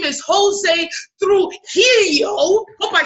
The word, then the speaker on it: Jose Trujillo: His name is Jose Trujillo.